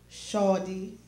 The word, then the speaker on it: Shadea: Today, we have among us the Honorable Shawdy, that's right pronunciation, Shadea L.